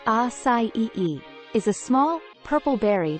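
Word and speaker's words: açaí: everyone welcome to creative acai pronounced acai is a small purple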